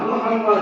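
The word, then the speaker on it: محمد: পাঁচটা ঠিক কি না মিমের উপরে তাসদীদ থাকার কারণে এখানে দুইটা মিম কয়টা মিম দুইটা মিম দেখতে হয় চারটা কিন্তু উচ্চারণ যখন করবেন তখন হবে পাঁচটা মিম বিষ্ণু হে মিম জবর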